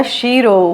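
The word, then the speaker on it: Cheiro: कि western world से mister कीरो या शिरो व्हाट एवर यू प्रोनाउंस ट सो आई pronounce it personally कीरो Sheldon okay यह आए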